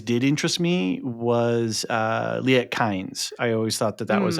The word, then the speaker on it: Kynes: So it's Kynes and it's it's Harkonnen.